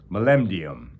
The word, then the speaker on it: molybdenum: shallow cave amongst the outcroppings of an abandoned molybdenum mine. That's a metal that would be mined in Canada. On the crest of a hill, molybdenum is how you pronounce it.